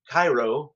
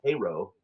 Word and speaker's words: Cairo: It looks like Cairo, like Egypt, but it's pronounced Cairo. And I pro provided this in the research list, and I still got a a correction back saying Cairo.